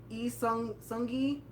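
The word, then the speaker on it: Lee Seung-gi: So those are if I got everybody, Lee Sung-gi. Is that how you pronounce it?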